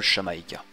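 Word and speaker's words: Xamaica: provient en fait de xamaika prononcé en espagnol shamaika ce qui signifie en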